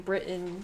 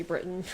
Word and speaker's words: Britain: I had somebody say that I was saying Britain. Like, I'm supposed to pronounce the T in it. You know, that's how you guys do it over there. Yeah, Americans are a bit lazy. We just say Britain.